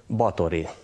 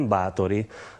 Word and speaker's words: Báthory: Here, at home, its local vendors advertise it everywhere as "Bathory"! Not "Báthory", as it should be written and pronounced hungarian - - but as the Slovaks write, without accent!